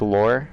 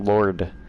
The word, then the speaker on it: lore: you mean Laura improved lore you keep pronouncing it Lord or a spelling Lord l-o-r-d It's l-o-r-e dating okay let's see